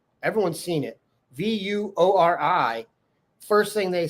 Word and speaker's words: Vuori: It's Vuori, not Vuori. Okay, I was pronouncing it wrong. Everyone's seen it. Vuori.